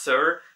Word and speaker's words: Saor: Also, for you guys, if you want to know, Saor means actually, or is pronounced Sir, means free in Scottish Gaelic.